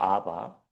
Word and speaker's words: 아바: 아바. 아람어입니다. 이거는. 헬라어가 아니라 아람어로서의 아바라고 이렇게 하셨는데 바울 서신에서는 이것이 헬라어 아빠로 바뀝니다. 발음이 좀 비슷하지만 살짝 다른데요.